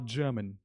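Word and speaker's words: German: टर्मन नहीं बोलना। आपको बोलना है टर्मन। दोबारा से मेरे पीछे रिपीट कीजिए। टर्मन यही इसकी करेक्ट प्रोनेंसी है। स्टैंडर्ड इंग्लिश में हम आर को बहुत सारे शब्दों में साइलेंट रखते हैं।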